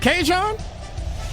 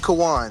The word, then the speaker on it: Kawan: Is it Kajon? Kawan. Oh, it's Kawan.